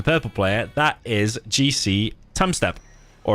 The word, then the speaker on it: Tumstep: player that is GC time step or apparently you're supposed to say it like Tim step should retire well according